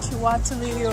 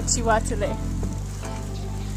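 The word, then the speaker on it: Kiwatule: So when we first got here, I was calling everything Chiwatuli or Kiambogo, but it's Chambogo or Chiwatule. So. Yeah, they don't like the k sound.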